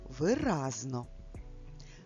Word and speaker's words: виразно: Читай виразно. Зверни увагу. В українській мові ми промовляємо це слово з наголоса на звук а.